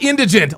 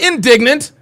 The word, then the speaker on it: indigent: That's all you have to do is look up the word and it tells you how to pronounce it. Indigent. Indigent. Indigent. Say it again. Indigent. Not indignant. Not indigenous. It's indigent. Indigent.